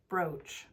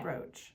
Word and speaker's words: brooch: head brooch brooch brooch yes that's how you say it okay I thought have I been saying it wrong I don't know say words wrong all the time I think you can say it either way but we'll say roach okay broch someone can tell us